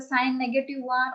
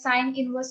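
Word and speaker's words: sin⁻¹: Don't say it as a sine negative 1 or sine power minus 1. We pronounce it as sine inverse of 1.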